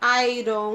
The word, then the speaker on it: iron: Muita gente fala Iron Man, mas a pronúncia correta é iron.